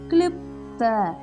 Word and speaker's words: கிளிப்த: கிளிப்த கிளிப்த தமிழுக்கு வர தா. கிளிப்த.